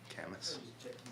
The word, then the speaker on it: Camas: Camas. Not notably not pronounced chemist.